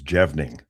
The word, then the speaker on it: Jevning: It's Jebning. It It's Our family's Our family's from Norway, so it's a Norwegian name.